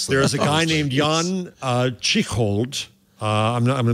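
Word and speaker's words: Jan Tschichold: Meanwhile, there is a guy named Jan Chichold. I'm going to mispronounce his name.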